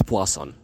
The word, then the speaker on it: Poisson: correctly which i believe that everybody should that's poison and he found a lot of probability distributions